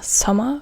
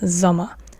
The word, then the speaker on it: Sommer: So now we have the S, and the S is an S in German, but it's not pronounced like, as an example, in English you have summer, and this means Sommer in German, der Sommer, but you don't say der Sommer, but der Sommer, z, not s, but z, der Sommer.